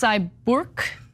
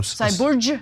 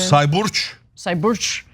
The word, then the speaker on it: Sayburç: It's Sayburç. No. Sayburç, because it's C's are pronounced as J's for some reason. Sayburç.